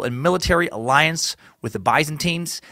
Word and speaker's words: Byzantines: military alliance with the Byzantines that by the way is the correct American pronunciation for that words take it easy brits you cool your Imperial pronunciation Jets I know I've been